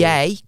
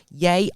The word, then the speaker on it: Ye: Yay, because it's spelled like Kanye. Ye old King's Head. Yay Oldie King's Head in Chester.